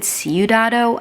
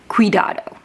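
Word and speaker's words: cuidado: I said Sudado and I think that's not city. City is su I feel really bad. I'm very sorry I pronounced that wrong. I believe it's quidado.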